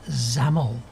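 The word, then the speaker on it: XAML: letters which make on this name which is pronounced zamel so what is a markup language a markup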